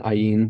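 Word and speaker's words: עין: in snake and then ayin which we've covered is one of The Silent Ones so we've got three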